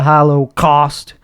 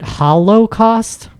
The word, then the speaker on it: Holocaust: lot to kill me is that how you pronounced it Hollow cost I like to over enunciate when I'm on camera yeah and no is it are you supposed to say cost because Holocaust because there's an emphasis on costs I just